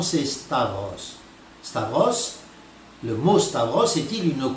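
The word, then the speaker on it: σταυρός: os mais en grec sachez que la bonne prononciation c'est stable Staros le mot Staros est-il une croix en grec ou pas et bien oui le mot spa Bros ou storose comme il le prononce signifie bien roi aujourd'hui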